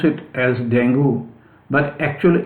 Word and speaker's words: dengue: This disease, so-called dengue fever, I will take a little time to tell that dengue, we pronounce it as dengue, but actually its pronunciation is dengue fever.